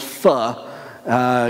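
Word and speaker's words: phở: common Vietnamese dish called feh you'll probably see it in America we call it pho cause if spelled pho but that's not how they say it and if you eat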